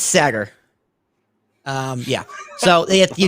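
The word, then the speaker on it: Saagar: how you pronounce it. It's Sagar.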